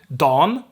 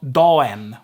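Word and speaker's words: dagen: that also goes for all the forms don which is dog n we have the same change here like in sia dan because the g gets dropped and also the next vowel so it's don not dawen or something then a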